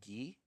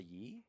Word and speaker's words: Gi: want to correct ourselves her name is Gee like said like the thing that Goku wears a G right what did you think we were saying a ye no oh sorry I I was mispronouncing it y um so but